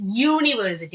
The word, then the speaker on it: university: Are we pronouncing it as university? No, it's university.